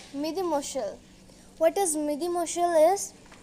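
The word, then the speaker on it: mesdemoiselles: We say Midi Mushal. What is Midi Mushal is? We say ladies. Spelling is different, pronunciation is different.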